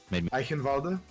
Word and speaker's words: Eichenwalde: Can you pronounce this map for me one more time? Eichenwalde?